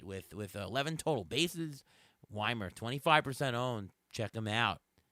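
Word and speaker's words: Wiemer: yeah um if it is it Joey Weimer or Joey Weimer you know like a German name uh when I had the game on last night they said Weimer it's Weimer okay um I mispronounced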